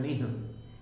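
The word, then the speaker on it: निः: इसमें उपसर्ग लगा है निश, निह, निह, इसको उच्चारण होता है निह, और निह का अर्थ होता है बिना।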